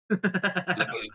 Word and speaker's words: LaBeouf: It's pronounced Guaranteed. Lebu. LaBeouf.